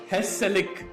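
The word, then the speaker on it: gezellig: So there's this word called Hesselik, which is spelled Gezelig, which is like the hygge or Susegard of Goa.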